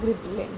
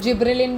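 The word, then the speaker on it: gibberellin: होगा वो होगा हमारा गिबरेलिन, या इसको जिब्रेलिन भी प्रोनाउंस करते हैं कुछ, या इसको गिबरेलिन भी बोल सकते हैं, तो जी या फिर जे कुछ भी प्रोनाउंस कर लो तुम।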